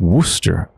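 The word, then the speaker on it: Worcester: it right away but why is Worchester shire pronounced Wooster and I think I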